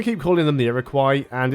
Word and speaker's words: Iroquois: I've always been taught that it was Iroquois, but I've heard other people say Iroquois as well, plus a few other variations.